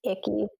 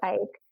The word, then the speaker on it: Icke: how you say it I thought it was a key I was a key but I'm like man I think it's Ike yeah well yeah yeah